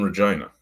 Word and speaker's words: Regina: I'm in Regina. Yeah. So Rhymes the with capital, fun. the city that rhymes with fun.